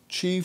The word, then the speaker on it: Qi: by different names and the ancient Chinese called it Chi it could be spelled Qi ch I is an older way and phonetically CH EE and she is believed